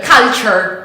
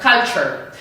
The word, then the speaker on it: culture: The correct way to pronounce this is ch, culture, culture. So for example, we can say, European culture is different from Asian culture, ch. This is the correct sound that we have to pronounce. So never say culture, because many people tend to say something like this, but say culture.